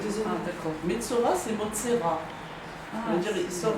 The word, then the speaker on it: Metzora: En tout cas, la Metzora, ça s'écrit comme ça, Metzora. Et on dit... Peut-être que ça s'écrit, il y a un Aleph là, je sais pas. En tout cas, c'est Motsera.